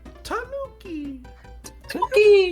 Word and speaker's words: Tanuki: uh to chat uh I will continue to pronounce Tanuki the way I do because I pronounce it the way Mario does in 3D Land Tanuki and he says it Mario Kart 8 so that's my stance it's the Americanized version hey look the bug